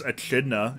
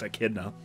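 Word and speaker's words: echidna: better character than me I always pronounced his species as a chida and it wasn't until I was much older when I learned it was pronounced a kidna I was the same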